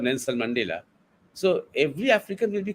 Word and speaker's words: Nelson Mandela: You see, and if we mispronounce them, if we start saying Nensala Mandal, if you say instead of Nelson Mandela, so every African will be quite upset about it.